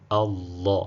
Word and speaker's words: Allah: Hamzatul wasli mara zote huwa inawa fatha. Kwa hiyo hapa inatamkwa a Allah.